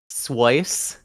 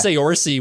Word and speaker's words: Saoirse: What are some of the funniest pronunciations you've ever heard of your name? Has it like Okay. Um, Swice is one. what? I was Oh thinking like yeah. Saoirse.